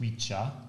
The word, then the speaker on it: Wicca: So, in fact, Wicca would be pronounced Wicha originally.